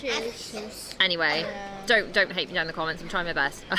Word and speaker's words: Akershus: it's Akershus.